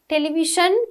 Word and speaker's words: television: දැන් අපි pronounce කරනකොට television කියන්නේ. We say television, j sound.